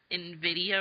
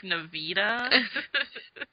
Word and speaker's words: NVIDIA: Hey, I was nice to you last week, too, until you started saying Nvidia. I was telling him my computer specs, and my graphics card is NVIDIA or something like that.